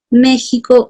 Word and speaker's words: México: que un mensaje veamos méxico o méxico me dice no me están preguntando cómo se escribe méxico que es con x se pronuncia con j ahí debemos suponer un